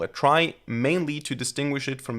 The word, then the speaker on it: trie: And it actually comes from the word retrieval, which means that the original correct pronunciation would be tree. Now, why do we call it try?